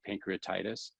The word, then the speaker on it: pancreatitis: we're looking at like pancreatitis pancreati that's that tie is where we're putting the emphasis on it pancreatitis when we say pancreatitis that that emphasis is on the tie this again is where